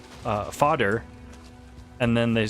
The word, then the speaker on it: Fader: It took me until I killed Fader to realize that, and I only realized it once I heard somebody else pronounce it fodder, and then they said